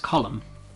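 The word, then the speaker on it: Colm: not funny even though isn't the actual name calm actually pronounced column i'm almost 100 percent sure that's true because i'm pretty sure sean mentions it in the game column of driscoll oh watch out because i think it's um the american pronunciation of the word if i'm wrong because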